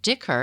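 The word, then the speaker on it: dhikr: prayer and they aimed to show that it's pronounced Dicker it's pronounced d h i KR excuse me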